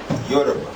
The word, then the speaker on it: Yoruba: Yoruba. Spell it.